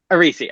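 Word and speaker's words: Aerisi: um his name was Aces arisi I mean arisi okay yeah okay I really see how to respell it again a e r i s i got that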